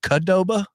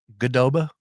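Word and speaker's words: Qdoba: Um, you say Kadoba. Kadoba. How do you say it? Gdoba. It's a Q.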